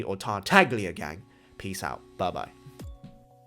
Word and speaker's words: Tartaglia: wonderful wonderful day and tartalia gang without the silent g or tartaglia gang peace out bye-bye